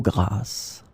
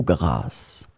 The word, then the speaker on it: grasse: In this lesson, we will discover together two words that are written differently but pronounced the same way.